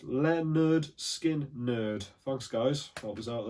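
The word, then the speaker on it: Lynyrd Skynyrd: and roll we've got leonard skynyrd pronounced leonard skin nerd thanks guys that was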